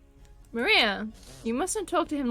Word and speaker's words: Maria: Her name is written, of course, it's pronounced Maria.